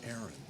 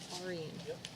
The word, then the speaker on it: Aaron: Oh, now Tammy was telling me it was Aaron. Yeah, it's not Arian.